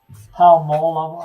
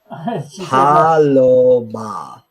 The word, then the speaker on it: Paloma: Oh, she's saying that Palmola, however you want to pronounce it, is Spanish for dove. Yeah. Paloma. You just sound it out.